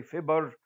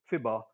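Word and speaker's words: fibber: that's how we pronounce we don't say fiber we say fiba like almost like an a okay prime minister survives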